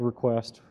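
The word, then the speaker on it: Reqwest: And I kind of looked at it, and I found a couple of libraries, one in particular I liked called Request. It's spelled R-E-Q-W-E-S-T.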